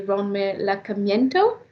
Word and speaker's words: Ronmar Lacamiento: So, for those ones that are already here, we are receiving today Ronmar Lacamiento. Did I pronounce that right?